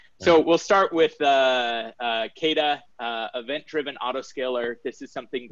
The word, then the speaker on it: Kata: Either works. We generally go Kata, but Kita, there's okay. no official pronunciation guide.